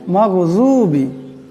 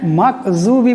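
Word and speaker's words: مغضوب: আওয়াজে পড়তে হবে গাইরিল মাগজুবি এখানে মাকজুবি পড়লে হবে না উচ্চারণটা ভুল হয়ে যাবে আমাদের নামাজটা ফাসিদ হয়ে যাবে এখানে গাইন আছে মাগ এমন করে পড়তে হবে আলাইহিম আলাইহিম এখানে আইন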